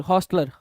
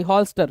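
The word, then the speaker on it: holster: Pistol, हॉस्टलर, ठीक है, sorry हॉल्स्टर, right, not हॉस्टलर, हॉल्स्टर।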